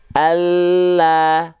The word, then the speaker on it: Allah: Maka ketika kita lafalkan, bentuk pelafalannya, lidah yang menyentuh ke langit-langit akan terlihat lebih penuh. Contoh, Allah.